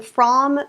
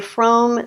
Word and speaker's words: Frome: to say it correctly I was taught Ethan from but I keep hearing people say Frome so tomato tomahto all